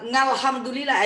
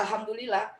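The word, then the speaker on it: الحمد لله: Nah, alhamdulillah di depan kalau ngalhamdulillah itu salah, tetap aja alhamdulillah, bukan alhamdulillah, nggak boleh karena ini dia alif lam bukan ain ya.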